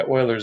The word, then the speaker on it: Euler: cosine of X plus I sine X by Euler's equation by the way I'm sure you know